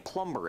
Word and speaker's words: plumber: that's what I'm saying plumber it has a b in it the B is silent it's silent B silent anyway what do you